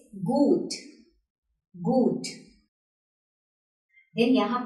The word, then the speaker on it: gut: यहाँ पे H नहीं है, तब भी U का साउंड लंबा हो रहा है. This is good.